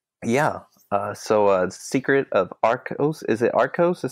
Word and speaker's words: Arcos: like a prequel yeah so a secret of Arcos is it art Costa said how you say